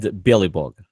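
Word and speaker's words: Belobog: It's Chornybog Chornebog. and Bjelybog. Bjely Billy means Bug. white, Chorny means black, Bog means God.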